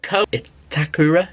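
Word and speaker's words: Ko Itakura: move on to the next player it's um Co takura is how you say his name anyway he's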